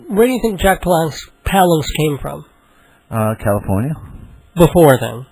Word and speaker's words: Palance: doing a song called Jack Palance, or Palance. He pronounces it Palance.